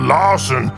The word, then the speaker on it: Larson: I'm called Larson because it rhymes with arson.